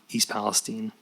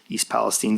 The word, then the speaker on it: East Palestine: pledge his support for East Palestine. Vance, unlike the journalists in DC and New York, knew how to pronounce the name of the place he was in. East Palestine, not East Palestine.